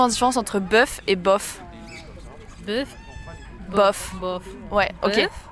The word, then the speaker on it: bof: Bof. Bœuf, oui. Bof, oh. Bof, oui. Oh, c'est O? Oui, c'est un O, mais la prononciation c'est O, pas E.